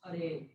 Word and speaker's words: Hare: Hare, or it's actually Hara, but in the vocative tense, it's pronounced Hare.